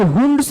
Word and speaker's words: Hund: हुंड्स rule की बातें करते ध्यान से देखिए, आप इसको, कुछ लोग इसको हंड्स भी बोलते हैं या प्रोनाउंसिएट भी करते हैं ऐसा. सो बट वी you considered like this हुंड्स rule.